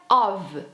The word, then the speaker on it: of: o que interessa né como pronunciar of nas frases se pronuncia ov of mesmo que nem se fosse V no lugar do f por exemplo House